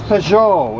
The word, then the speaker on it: Peugeot: Oh God, it's Peugeot.